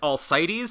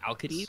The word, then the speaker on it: Alcides: It is Archer Heracles, also known as Alcides, I think you would pronounce it as. I believe it's a hard C in Greek, so it would be Alcides. Alcides, something like that.